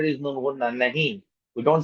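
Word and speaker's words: نہیں: Nahi. We don't say nahin. Kaha. We don't say kahan. Okay. You would have noticed that noon in the above words does not give its full sound.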